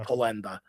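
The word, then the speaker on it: penne: So the the right way you say it, you know, you know, the Americans say it penta, you know, but like in like like with the Italian dialect to it, like it's almost like a th So it's like penda, you know, that's how you say it.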